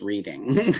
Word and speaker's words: Reading: also proved that reading it it should be pronounced reading as well that's Pennsylvania everybody okay 1707 German